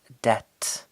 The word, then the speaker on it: debt: this word is pronounced debt we do not pronounce the B it is silent his parents are in debt to his boss and